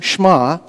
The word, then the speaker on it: Shema: is a Jewish word pronounced Sh'ma as if the e is almost silent and means listen or